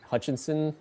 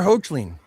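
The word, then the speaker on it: Hoechlin: T T T T T T T Tyler Hutchinson or whatever his name is from. Oh, the um the Superman actor. I can't I can never say his name. Tyler Hochen.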